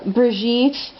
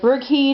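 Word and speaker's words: Brigid: ishtar let's see uh brigitte um or burgheed in the celtic pantheon mama brigitte as the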